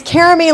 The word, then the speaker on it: Caram: My name is Caram. It's like it's Carame like Jeremy and u No, no, no.